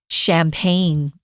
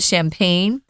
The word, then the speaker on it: champagne: French apple wine or champagne or as they say champag but we are doing the English pronunciation in that champagne champagne is only grown